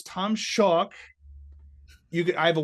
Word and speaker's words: Schalk: to spell my name it is chalk with an s in front of it that's also how you pronounce it I get a I get a lot of different pronunciations from my name I've gotten schlack SCH shulock I've gotten shulock someone threw in a second syllable one time it's crazy